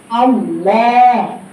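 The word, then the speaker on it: الله: বলি বলি না আমরা আল্লাহ বলি কিন্তু মূলত উচ্চারণটা হবে কি আমি গত শুক্রবারে এটা পড়াইছি আল্লাহ আল্লাহ আল্লাহ শব্দ কি হয় সবসময় মোটা হয় ফুল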